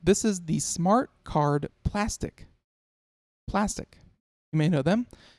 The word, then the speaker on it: Plastc: So for those of you who do not know, Plastc, spelled without an I, same way as plastic, but no I.